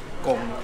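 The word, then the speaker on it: Cộng: and this place, I'm not sure if my pronunciation is correct, Jerry might help me, it's Cong Cafe. How would you say that? Cong Cafe.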